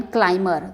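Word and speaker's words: climber: अंगूर की बेल को यानी कि ग्रेप वाइन क्लाइमर, ध्यान दीजिएगा जब क्या होता है ना कि यहाँ पे क्लाइमर बी यहाँ पर साइलेंट होता है, हालांकि ये इंग्लिश की क्लास नहीं है।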